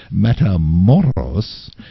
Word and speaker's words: Matamoros: I pronounced it correctly. Matamoros.